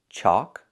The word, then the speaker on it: chalk: The second word is chalk. wheel chalks or you chalk the wheels. And the third word is chalk. The sound is in the back. O like walk and talk.